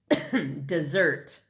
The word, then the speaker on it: Mount Desert: from a guide book Southwest Harbor is on an island called Mount Desert she pronounced it dessert ice cream cookies brownie